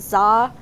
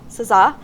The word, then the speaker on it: SZA: Is it ZA? S-Z-A? Oh, and then you look at me like I'm. ZA? SZA?